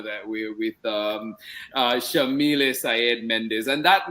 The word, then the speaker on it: Yamile: he named me so Shamil is an Arabic name pronounced with an Argentine accent we say they white like an sh and then Sayed is